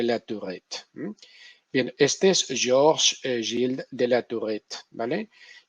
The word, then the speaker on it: Georges Gilles de la Tourette: Y obviamente lo pronuncio en francés porque nací en París y lo pronuncio en francés porque este hombre pues es francés, ¿no? Y por tanto se merece como mínimo que lo digamos bien, ¿no?